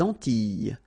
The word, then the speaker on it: Antilles: So here it's quite interesting because, well, you've got this E and then double L, S. Okay? So final S and E, really you don't pronounce them. So you get this E sound.